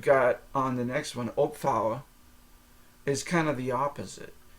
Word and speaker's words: opvouwen: And so, and then what you've got on the next one, opvouwen, is kind of the opposite, because opvouwen is spelled Opvouwen, and so that V sounds more like an F.